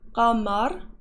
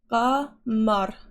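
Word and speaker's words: قمر: Yeah, this is gamar. Is that how you say it? Isn't that a golf? The little thingy in there? I see the two little dots. Qamar.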